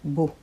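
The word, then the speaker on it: S.K.beau: a u minúscula todo que se pronuncia Bo el vocablo resulta equívoco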